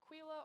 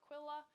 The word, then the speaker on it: Aquila: And then the last one down here, there's a couple different pronunciations of it. There's Aquila or Aquila.